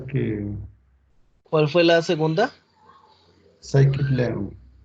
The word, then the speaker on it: Scikit-learn: Scikit-learn se escribe, se pronuncia Scikit-learn, así como aparece aquí escrito, pero Vale.